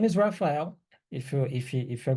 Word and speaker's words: Raphael: so my name is Raphael if you if if you're gonna talk to me later you can say rapael hael Rafael I don't care it's fine okay it's